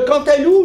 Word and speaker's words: cantaloup: des courges asiatiques le cantaloup lui vous le connaissez il est bon il est orange mais on ne prononce pas le P en anglais c'est quand